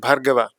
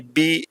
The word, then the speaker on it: Bhargava: Bhargava to say in India is easy. French people cannot say Bhargava. It doesn't exist. BH combined, it just doesn't exist. So they would spell it like Bhargava, so it'll be Barghava. So each time you have to correct it.